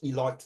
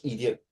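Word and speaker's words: Eliot: Uh I will pronounce George Eloy because sometime you mistaken it's called George idiot.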